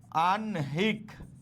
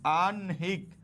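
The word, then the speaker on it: আহ্নিক: এটার উচ্চারণ কি হবে ওই হ এর আগে ন টা চলে আসবে হ্যাঁ এটা দন্তন্য তাহলে এটা কি হবে বলতো আনহিক আনহিক ওকে ক এর নিচে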